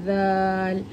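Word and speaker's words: ذال: জাল মানে জীবের নোখটা বা জীবের যে আগাটা আছে এই আগাটা আমাদের কি হবে? উপরে দাঁতের সাথে ঠেকবে। জাল আর হালকা করে উচ্চারণ হবে।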